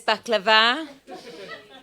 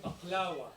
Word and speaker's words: baklava: Everyone, there's baklava. Made by It's the vegan. Sarah. You better say baklawa. Baklawa.